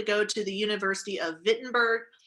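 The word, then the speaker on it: Wittenberg: to the university of vitberg I know it's spelled with a W but it's pronounced with a V okay so the University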